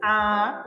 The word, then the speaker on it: à: gente coloca o acento, mas a nossa pronúncia precisa ser como se tivesse duas letras A. Então, por exemplo, quando eu digo vou à escola, eu tenho o acento crase.